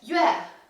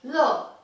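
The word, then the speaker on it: 乐: this character for example this can either be pronounced as yue when it means music or love when it means happiness so conjoined to this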